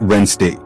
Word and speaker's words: Wednesday: The D is silent. It sounds like Wednesday.